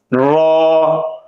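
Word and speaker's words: ر: জাল দাল জাল র র হরফটি জিহ্বার আগার পিঠ উপরের তালুর সঙ্গে লাগিয়ে জিহ্বার এই অংশ জিহ্বার আগার পিঠ উপরের তালুর সঙ্গে লাগিয়ে উচ্চারিত হয়র এই হরফটি মোটা করে উচ্চারণ করতে হয় র যদি জিহ্বার আগা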